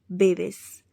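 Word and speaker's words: bebes: You drink, you drink को हम pronounce करते हैं तू बेवेस, तू बेवेस।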